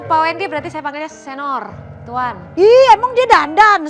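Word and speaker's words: señor: Kalau saya ketemu Pak Wendy berarti saya panggilnya Senor, Tuan. Ih, emang dia dandan, Senor. Senor. Bukan senior. Bacanya bukan senior berarti.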